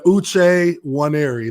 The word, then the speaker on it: Uche Nwaneri: I'll give it to you now yeah man Luce one airy that's that's how you say my name day